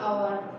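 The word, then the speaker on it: hour: Half an आवर, he is an honest man, H silent रहता है।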